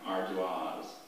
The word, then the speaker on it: ardoise: Alternate pronunciations, please? Just the one, Ardoise.